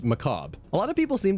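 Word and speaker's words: Mechabre: to Bungie it's a pun and it's actually pronounced Macabre a lot of people seem to think that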